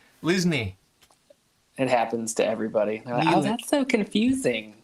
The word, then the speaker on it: Lisney: nice to talk to another Lindsay. Linsley. How do you say it? Lisney. How did I say it? Lindsay. You do what Lindsay. everybody does. Lindsay. Oh, I said Lindsay.